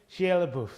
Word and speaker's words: Shia LaBeouf: I'm bad at pronunciation. Shia LaBeouf.